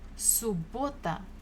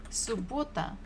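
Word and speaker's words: суббота: after half the day subota so we have double b but we pronounce it only one time subota subota Saturday next one was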